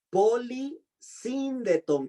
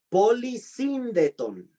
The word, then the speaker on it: polisíndeton: Polisíndeton, con acento en la primera, en la segunda I, perdón. Polisíndeton.